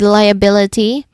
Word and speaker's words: liability: Continuing with liability, the pronunciation wise, the primary stress is on the lie which is the first syllable. And then next is bill. Third syllable is also stressed. Liability, liability. You pay attention to the primary stress on the third syllable. So third syllable is our primary stress. That bill that's our primary stress here.